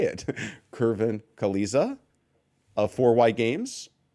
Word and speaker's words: Queliza: my name correctly that would be wonderful kvin Kalisa Kalisa Kalisa Kalisa like at 2ks Kalisa like